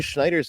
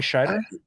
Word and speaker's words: Scheider: the and then Roy Schneider's interesting uh or no showman how do you say his name um not Schneider Not sure I mean Roy Scheider yeah the sheriff he